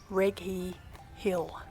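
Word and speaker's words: Righi: on the top of the funicular and it's pronounced as Reggie Hill I don't know about you but I love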